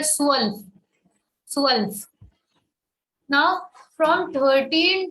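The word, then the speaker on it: zwölf: is said as l 12 is called swell over o we have um lord soul the z is having s sound so we say swell so else now from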